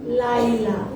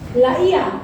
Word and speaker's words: Laia: Jorel Sion Haga sama Homi Laila. Waduh, panjang kali. Laia. Oh Laia, aduh Laila.